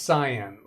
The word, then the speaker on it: cyan: in guy speak and it's not pronounced Cayenne it's pronounced cyan customer Cayenne is a